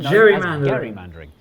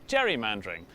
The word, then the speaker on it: gerrymandering: looks like a salamander you mean a Gary Mander and that's how the process of manipulating political gain became G mandering and then everyone start pronouncing it wrong became known as Jerry mandering which was good news